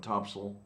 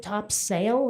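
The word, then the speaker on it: topsail: I was just wondering which sale, Topsel. No, huh? Well, it kind of helps if you pronounce it top sale instead of topsel, because I had no idea what the heck you were talking about.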